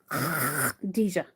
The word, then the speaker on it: Khadijah: Khadijah. You can't really type that. Get some phlegm in the back of your throat and say Khadijah.